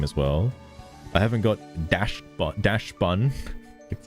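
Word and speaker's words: Dachsbun: I haven't got Dash Bun.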